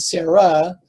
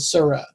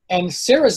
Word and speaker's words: Sarah: Likewise, you have Sarai and Sarah. It sounds very similar. I pronounced it originally as Suri and Surah.